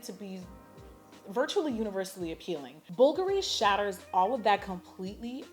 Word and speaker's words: Bulgari: Yes, that is how you pronounce the word, Bulgari.